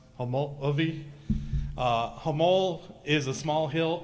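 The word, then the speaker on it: Homolovi: Traditionally in Hopi, it would be pronounced Homology.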